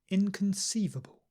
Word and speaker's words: inconceivable: speed repeat after me inconceivable remember that schwa not Khan Kun inconceivable indispensable indisputable inexplicable and